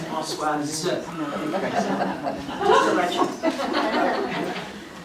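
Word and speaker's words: Françoise: let everybody know that my name is pronounced Francoise. Not Francois. That's the deal. It's Francoise.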